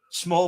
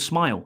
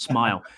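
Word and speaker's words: Smael: Small Mond. Yeah, Small Smile. He's actually called Smile. Smile Mond. Yeah. Yeah, I do. Yeah, he's all right. He is, but it's pronounced Smile.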